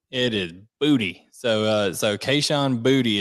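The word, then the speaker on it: Boutte: pronounce it for you he has made it clear it is booty it is booty so uh so Keyshawn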